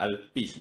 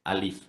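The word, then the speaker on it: Alypz: company's sounds is not Alpis, it's okay, it's fine. Okay, we call it as Alif. The pronunciation is A-L-I-F.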